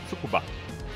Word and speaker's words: Tsukuba: Yeah, the semi-correct pronunciation is Tsukuba, with the Tsukuba.